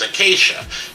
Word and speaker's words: Acacia: called yezzy and the song is called acacia or some people used to try to pronounce it okay or whatever i don't even know why they were doing it that way it's acacia a-c-a-c-i-a okay chef plain and simple um uh and um